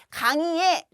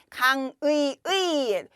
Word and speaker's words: 강의의: 또 강의에 라고 얘기하면 강의의 요거는 두 번째 음절이지만 그대로잖아요. 그래서 그 의로 발음해도 되고 이로 발음해도 되는 거예요. 그래서 강의의도 되고 강의에도 되고 요거는 조사니까 의 또는 에잖아요. 그런데 두 번째 음절에 오는 의는 의 또는 이라고 해도 된다 그랬어요. 그러니까 이에다가 조사 의 또는 에 네 가지 경우가 모두 된다. 강의의, 강의에, 강의에, 강의의, 강의에. 이 모든 발음이 다 됩니다.